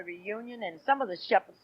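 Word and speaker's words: Shephard: we might put a t and then still pronounce it as Shepherds you got to remember we come from a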